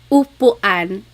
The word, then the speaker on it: upuan: And then letter U is an U sound. U. So ulan, upuan, rain and chair, u.